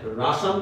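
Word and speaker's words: Russia: হাসি উঠতেছে, হাসলেও কিছু করার নেই, মানে রাশান তো বুঝতে পারতেছো, রাশিয়া চিনো তো, রাশিয়া, তাই না? বাংলায় রাশিয়া, ইংলিশে বলে রাশা। তাহলে কি দেখো, আলটিমেটলি এটা একটা ডিস্ট্রিক্ট ইন সেন্ট্রাল রাশা, তবে তার জন্মগ্রহণটা এক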